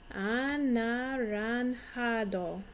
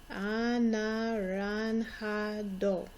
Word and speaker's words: anaranjado: Anaranjado. Notice the J sounds like an H. The A sounds like the ah sound that an O would make in English. Anaranjado. O sounds like a long O sound.